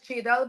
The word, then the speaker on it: Jadel: okay folks it's jel or jel mly pronounced as jadel but a lot of people if they want